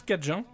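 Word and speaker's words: cajun: encore avant euh alors le mot d'ailleurs acadien euh en fait on le prononce cadjin en fait la cuisine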